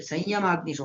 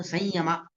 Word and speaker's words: ಸಂಯಮ: ಬಿಡಿಸಿಕೊಳ್ಳಬೇಕು ಇನ್ನ ಹೇಳಬೇಕಾದರೆ ಅಲ್ಲಿ ಸಂಯಮಿಸು ಅಂತ ಹೇಳಿದೆ ಅದು ಸಂಯಮ ಸಂ ಮಕಾರ ಅಂದ್ರೆ ಅನುಸ್ವಾರ ಪಕ್ಕದಲ್ಲಿ ಇದ್ದಾಗ ಸಂಯಮ ಅಂತ ಉಚ್ಚಾರಣೆ ಮಾಡಬೇಕಾದ ಕ್ರಮ ಸಂಸ್ಕೃತದಲ್ಲಿ ಆ ಕ್ರಮದಲ್ಲಿ ಉಚ್ಚಾರಣೆ ಸಂಯಮ ಅಂತ ಉಚ್ಚಾರಣೆ ಮಾಡಬೇಕು ಅದು ಸರಿಯಾದ ಉಚ್ಚಾರಣೆ ಸಂಯಮಾಜ್ಞು ಯಕಾರ ಅನುನಾಸಿಕ ಮಾಡಿ